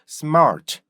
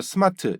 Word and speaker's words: smart: 해요 요것만 하시면 돼요 우리나라 사람들 일반적으로 스마트 이렇게 발음 하잖아요 그죠 스마트 스마트 이렇게 발음하는데 여기에서 이거를으로만 바꿔 주는 거예요 습 Smart 근데 습마 이렇게 발음하기 힘들어요 스마트 이렇게 돼요 그죠 그렇기 때문에 여러분들이 습을 정확히 딱 끊어서 가잖아요 그러면은 Smart 이렇게 돼요 왜 그러냐면 마트가 습에 맞춰서 발음이 돼요 그러면 art art 이렇게 된단 말이야 그래서 Smart smart 이렇게 발음이 될 수밖에 없어요 그래서 여러분들이 이거를 스마트